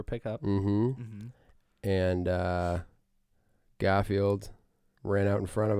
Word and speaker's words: Garfield: But the second half or the second bit of Garfield is the word field. Right. So it should be Garfield.